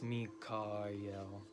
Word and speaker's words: Michael: And it says the CH has a guttural sound as in the German Ach or the Scottish Loch. So I think it's Mikael. That's how I've always done it anyway.